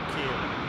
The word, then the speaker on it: Ciarán: People are going to be like, why are you pronouncing it like that? Can we just watch the planes, please? It's Kieran.